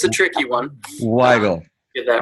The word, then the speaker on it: Weigle: I do have to point out it's pronounced Weigle, but it's a tricky one. Weigle.